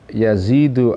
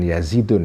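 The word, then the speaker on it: يزيد: sebetulnya waqala dan berkata yazidu arqasi Yazid arqasi ya baca yazidu bukan yazidun ya karena ini Isim G munsorif waqala dan berkata yazidu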